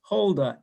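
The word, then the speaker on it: Huldah: the impressionist period and her name was holda h-u-l-d-a-h same pronunciation and and you just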